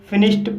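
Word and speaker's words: finished: फिनिश शब्द एस एच के sound से समाप्त हुआ है और इसमें सफिक्स ईडी जोड़ने पर डी का उच्चारण टा होगा, इसलिए इसे फिनिश्ड पढ़ा जाता है।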